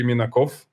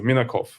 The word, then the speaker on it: Minakov: But yeah, usually the people are just getting mistaken. They start to emphasize the last part, like OV, as you rightly mentioned.